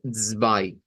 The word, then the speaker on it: zwei: Así se escribe el número 2 en Deutsch, pero se pronuncia zwei.